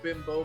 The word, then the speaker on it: Bimbo: I didn't know it was actually pronounced bimbo. I thought it was bimbo. Bimbo, if you're speaking Spanish.